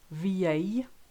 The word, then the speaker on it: vieille: When you've got ILL, AIL, EIA, L, the L sound totally disappears. So listen to those examples. Vieille, aille, travail, famille, fille, soleil, Guillaume. I think you get the idea. You just replace it with a long E and you'll be fine.